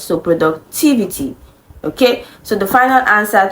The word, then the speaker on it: productivity: stress Falls before it TI IV is the syllable that carries the stress so productivity okay so the final answer to this question